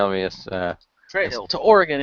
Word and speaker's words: Oregon: There is no E in Oregon, therefore it's Yeah, not but Oregon. it's still but there's still it's still G-O-N, and when there's no extra vowel, it makes the hard O sound.